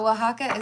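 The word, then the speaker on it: Oaxaca: Um, wajaka, the way you spelled it, grind hard, um, is pretty close to how you would pronounce it if you know the J is like H, but it's the O A X.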